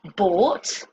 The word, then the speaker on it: bought: Okay, the first sound that we look at, ough plus t. This makes the sound ought. And example words with this pronunciation are bought, from the verb buy,